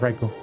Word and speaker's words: Raikou: I mispronounced his name. It's Raikou.